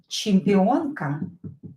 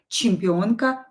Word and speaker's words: Чемпионка: Чемпионка. Champion, female champion. Чемпион, male champion. Чемпионка, female champion.